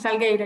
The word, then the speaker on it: Salgueiro: So we have a question from Salguero. Yes. Something. Yes, Salgueiro, yeah, you pronounce it well, thank you.